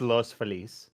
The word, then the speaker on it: Los Feliz: I know it's pronounced Los Feliz.